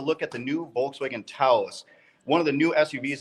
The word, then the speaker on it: Taos: How you pronounce it is Taos, like house. So we can get that out of the way.